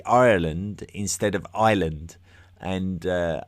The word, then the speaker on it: Ireland: there's there's a sort of a lazy uh English pronunciation of the country of Ireland where we tend to call it island as to rhyme with the very generic term for a a land mass in the middle of the sea an island.